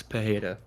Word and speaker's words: Pereira: You know, Pereira, however you want to pronounce it. No, the Brazilian Pereira. Great dialect, but Anyways, uh wait, Pereira is the way you say it in Portuguese, right?